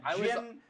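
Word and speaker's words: djinn: Jin with a D. With a silent D.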